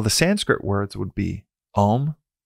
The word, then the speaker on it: Om: words would be om which is actually spelled not just om but it's actually spelled a m most classically and it's important that it's spelled in that way because it is it's symbolic of where the sound starts ah deep down center of our chest ah ooh further in our throat and all the way